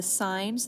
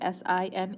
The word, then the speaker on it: sine: your calculator has a sign button and it looks like s i n so maybe you've seen that you've been calling it sin all these years it actually is pronounced sign so the sign of